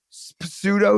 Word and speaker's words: pseudo: different name it's their pseudo name yeah pseudo yeah pseudo P but it's spelled with a p Pudo yeah and pterodactyl